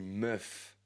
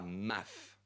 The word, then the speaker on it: meuf: Par exemple, je suis sûr que tu as remarqué, on dit meuf est pas mauf pour une femme parce que ma pour nous ça sonne un petit peu bizarre.